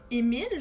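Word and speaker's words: Emil: Il manque un E. Émile, je crois que ça se prononce comme ça. C'est juste qu'il n'y a pas de E.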